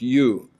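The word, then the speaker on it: 用: And second is a visibly manifest or superficial or secondary aspect called Yong. In Korean also Yong. In Japanese, in Chinese philosophical studies, it's pronounced Yo. In the Buddhist studies, pronounced Yu.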